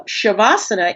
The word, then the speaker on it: Shavasana: So shavasana is the second one. It's the h sound sha vana the sibilent again.